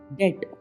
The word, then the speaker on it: debt: अब देखिए टी से पहले भी DEBT, डेट बोलते हैं इसको। डेट, बीच का बी गायब सा लगता है, इसका मतलब होता है ऋण।